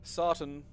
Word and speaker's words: Sarton: Sarton. So, more to rhyme with carton than cartoon.